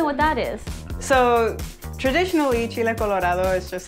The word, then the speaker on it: chile colorado: Chile. Chile. Colorado. Like Colorado.